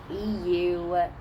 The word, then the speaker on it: Euronymous: Euronymous or Euronymous. It's Euronymous. Okay, and it says that Euronymous originally came from Greek mythology, but was demonized under Christianity.